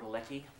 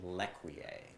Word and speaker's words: L'Ecuyer: for seeing me and you're a olecki uh no it's it was yes it's that's pronounced lequier what's what's going on